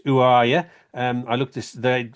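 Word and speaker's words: Orya: artist's name, I had no idea how to pronounce it. Uh it was Ura, but I gather that's wrong. It's actually pronounced UA accent.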